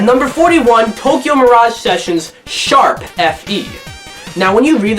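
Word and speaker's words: ♯: you read the title you're actually supposed to pronounce the hashtag or the sharp symbol as sharp so the first question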